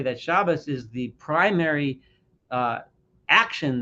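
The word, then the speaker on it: Shabbos: me I'm going to use the shabas my traditional way ashkanazi way of pronouncing it but for those that want to call it Sabbath or Shabbat just know what I'm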